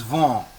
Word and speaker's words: vent: Vent. Very good. Very good. It is vent.